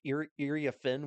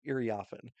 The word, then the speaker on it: Iriafen: I've heard it Iriafen, which I believe is the correct pronunciation, but I've also heard Iriafen. So I'm not 100% sure which pronunciation it is. I believe it's Iriafen though.